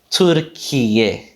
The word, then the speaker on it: Türkiye: Türkiye. Keeping that aspiration in there. So great, that's got us covered for the Turkish pronunciation.